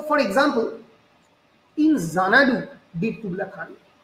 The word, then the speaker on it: Xanadu: chesta kori, আমরা দেখবো যদি আমরা প্রোনাউন্স করি জানাডু, জানাডু, the word জানাডু begins with ex. আমরা যখন রিড করছি, আমরা যখন জোরে বলছি জানাডু, ইট এন্ডস উইথ জেড.